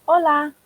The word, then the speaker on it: hola: She was so excited to join them, but even though she said hola with a silent H, they waved her off.